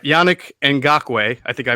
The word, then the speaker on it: Yannick Ngakoue: All right, Yannick Ngakoue, I think I pronounced that correctly.